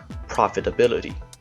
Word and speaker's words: profitability: In this case, there is a secondary stress placed on prop.